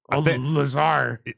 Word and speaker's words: Lazar: what happened with uh there's a dude named laser and he like lasar okay I thought it was Lazar it's def spelled like that but but I don't